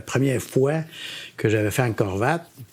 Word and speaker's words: Angkor Wat: Puis la première fois que j'avais fait Angkor Wat, ou Angkor Wat, comme ils disent, comme on a le prononcer en khmer, là, qui veut dire monastère, mais qui est la ville où...